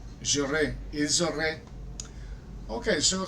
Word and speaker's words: ils auraient: So they, it is pronounced like I. J'aurais, ils auraient.